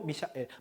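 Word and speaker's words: Michael: 그러니까 이대로 읽으면 할로 미샤엘 할로 미샤엘. 마이크 아닙니다. 써있는 그대로 읽으면 어떻게 돼요? 미샤엘. 그쵸? 그대로 읽으시면 돼요.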